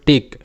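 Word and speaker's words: tech: টি ই সি এইচ এটার উচ্চারণটা হবে টেক কারণ সি এইচ এটা একটা ডায়াগ্রাফ সি এইচ কিন্তু পাশাপাশি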